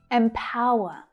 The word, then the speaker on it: empower: Notice that the first vowel sound is actually a short I sound. Even though it's spelled with an E, it's not E, it's I.